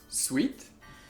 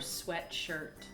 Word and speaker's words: sweatshirt: c'est un vêtement et en France on dit un sweite est-ce que tu portes un sweite et la vraie prononciation est sweater or sweatshirt oui parce que sweet qu'est-ce que tu entends quand je dis sweet sweet c'est sucré sucré ouais s W